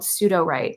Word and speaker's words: Sudowrite: I think for writers specifically, one of my favorite platforms is a platform called Sudowrite, and it's spelled SUDO WRITE, in a nod to like pseudo code, pseudo commands.